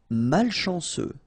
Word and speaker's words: malchanceux: Malchanceux. Final X not pronounced.